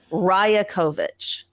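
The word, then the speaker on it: Rajaković: coach was announced tell okay how do I pronounce his last name it's Darko ryokovic Raya kovich thank you uh or Darko riakovich was announced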